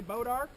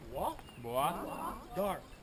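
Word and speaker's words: Bois d'Arc: little town called bodark everybody say bodark bod that's how us hillbilly say it but that's not how the French say it let's say it like a Frenchman would say bah dark dark Say bah dark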